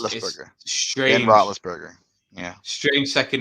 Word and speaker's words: Roethlisberger: Roethlisberger. Benjamin Roethlisberger. I can never spell it, and that's why I if you look anything where I It's post actually about him, it's actually not Roethlisberger.